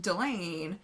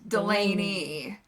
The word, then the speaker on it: Delane: Like, our concurrent host, Delane. Yeah, that can be read as Delaney. Delaney. And it's not. it's pronounced like Elaine, but with a D.